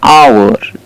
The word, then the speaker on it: hour: the silent H actually we can't pronounce the H but H is there and you can see an hour not Howard it's silent